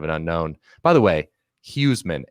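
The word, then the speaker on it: Huesman: unknown by the way huseman h-u-e-s-m-a-n you gotta pronounce that heisman i mean oh yeah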